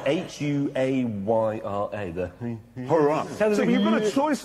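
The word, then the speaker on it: Huayra: the replacement for the Zonda is called the Hurrah. So it's spelled H-U-A-Y-R-A. The Hurrah.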